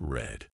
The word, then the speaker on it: read: to keep things interesting read in the present is pronounced like read read but in the past it's red mind blown and why